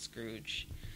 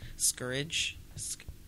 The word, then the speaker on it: scourge: gonna say it wrong it looks like Scrooge but I don't think it's Scrooge Scourge scourge scourge when you